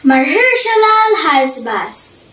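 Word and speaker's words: Maher-shalal-hash-baz: word in the bible anybody knows it is my hershalal hasbass let's spell it m a h e r s h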